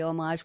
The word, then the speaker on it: homage: are in homage Mark I say homage with the silent h because that's the way the French say it homage but those of you who don't know it's spelled with an H homage to his family